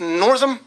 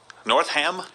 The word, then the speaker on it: Northam: a new governor Ralph is it pronounced Northam north ham no and basically endorsing infanticide